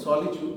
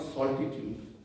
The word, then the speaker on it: solitude: And solitude, the word is solitude, not solitude. So it has been mispronounced a couple of times.